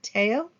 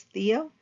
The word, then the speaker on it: Theo: with his brother um Teo we would pronounce it as Theo but in the French they generally pronounce it as Teo but it's t-h-e-o and